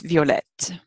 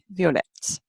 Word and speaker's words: violette: And like some of the other adjectives we talked about in the last chapter, if you make this word feminine, you have to double the T. So it's violette. Violet, violette. I'm going to put that